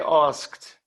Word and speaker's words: asked: she asked us good but we say asked ask we asked but we spell it like that without the tea asked we asked the